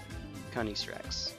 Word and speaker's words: Canis Rex: Canis Rex. Wolf King in Latin. So give it the ye olde pretentious Latin pronunciation. That's what you do.